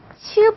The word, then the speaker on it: q: Q는 키역 발음이 아니라 치읒 발음이 나요. 치읒. 아셨죠? 키역은 K밖에 없어요. 키역은 K고 Q는 치읒 발음입니다.